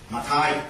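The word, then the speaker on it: മത്തായി: So when you read your Malayalam Bible, you can say Mathai.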